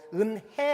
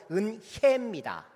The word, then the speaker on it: 은혜: 어떤 때는 잘 못해요 은해 아닙니다 아이 아니에요 은혜입니다 여이 근데 어떤 분은 은해